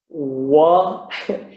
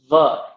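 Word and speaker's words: व: But it's called dantoshtham for a reason, and that is because your bottom lip makes contact with your upper teeth, va, to make this sound, va. So it is pronounced va.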